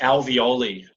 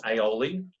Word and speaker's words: alveoli: And that's what's called the alveoli, okay? So I'll spell that A-L-V-E-O-L-I. Okay, it's not aioli, it's the alveoli, all right?